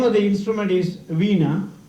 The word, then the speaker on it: veena: my instrument the name of the instrument is veena v e e n a that's how it is pronounced it is one of the oldest instruments